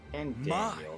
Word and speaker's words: Fandaniel: And Daniel, that's how it's pronounced.